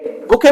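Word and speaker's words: bouquet: हैं इसको he presented बुके बुके बोलेंगे बुकेट नहीं बोलेंगे ठीक है ना बुके टू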